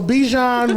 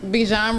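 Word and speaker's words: Bijan: like sure okay so bejan rhymes with DJ so the game that comes on tomorrow for them okay bjan rhymes with djn yeah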